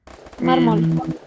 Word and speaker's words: mármol: Otro ejemplo puede ser Mármol. Mármol. Mármol. Son dos sílabas, este es mármol. Pero ¿lleva acento? Sí, porque termina en una consonante que es la L. Entonces yo le pongo el acento.